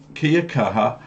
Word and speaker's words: kia kaha: So kia kaha, and kia kaha, it almost sounds like Kia from Australian Kia.